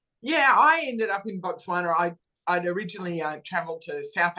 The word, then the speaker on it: Botswana: Yes, Perin Davey, you previous to your parliamentary comments, you run your own hospitality company in Boswan? I think that's how you say it. Botswana.